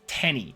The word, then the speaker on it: Teeny: Wait, his name is Teeny, pronounced Tenny, but people call him Teeny.